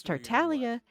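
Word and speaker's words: Tartaglia: You're not supposed to pronounce the G in Italian. You don't pronounce it.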